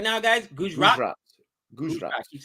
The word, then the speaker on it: Gujarat: Gujarat. Gujarat. I keep saying it wrong. Thank you for helping me out. Gujarat.